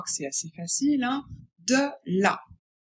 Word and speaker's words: de la: De la. Attention, de, il faut bien prononcer le E. E. Ce n'est pas est, ce n'est pas et, c'est bien E. Donc on dit de la.